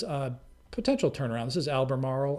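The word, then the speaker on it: Albemarle: This is Alber Marl. Alber Marl I think is how you pronounce it.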